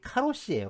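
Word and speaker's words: 過労死: 이 과로사의 그 일본식 발음이 이 카로시예요.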